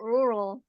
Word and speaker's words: rural: So rural ya. here rural it sounds a bit tricky because the R is doubled but you can just pronounce as oke right missarian so thanks for trying.